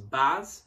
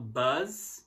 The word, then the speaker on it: bus: Bus, não buzz, tá? Que eu já vi muita gente pronunciar buzz, não bus.